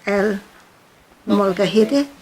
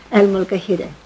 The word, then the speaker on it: El Molcajete: It's like El Molcajete. Oh, right. Okay, so El Molcajete. Molcajete. I asked him when I was there how to pronounce it.